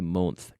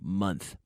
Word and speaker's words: month: Funny, money, month, Yes, it's an O, but we pronounce it the same as funny, like F-U-N-N-Y, gracioso.